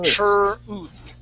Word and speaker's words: truth: So instead of saying T and R, we're going to say TR, TR. TR. Try that, TR. TR. There, okay? TR. TR-uth. TR-uth. TR-uth. Okay, truth. Truth. Truth. Truth. All right, that's going to be the TH. Tongue between the teeth.